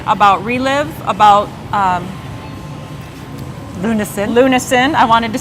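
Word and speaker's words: lunasin: get more information about relive about um lunin lunin I wanted to say it right and epigenetics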